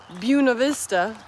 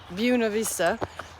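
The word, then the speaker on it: Buena Vista: I didn't film it because I was in the person's house, but ultimately yesterday I went to a Buuna Vista. That's how you say it. Buuna Vista.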